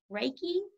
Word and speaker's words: Reiki: spiritual side and the the healing you practice reiki is that how it's pronounced yes breaking awesome what is that exactly